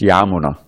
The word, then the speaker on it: Yamuna: song we just saying it's Yamuna short long at the beginning short at the end normally we'll have the Yamuna River right Yamuna but when you say of the Yamuna as in Yamuna tira